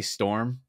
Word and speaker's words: storm: You're adding letters into that word that don't exist. Storm. Your storm. There's no U in the word. It's a one syllable word. Storm. Yeah, you're adding a U and an M. You're adding a syllable.